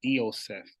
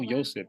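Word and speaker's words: Ἰωσήφ: Nobody who studies Greek and the pronunciations of diphthongs and just words itself is gonna say Yosef for the I, for the iota.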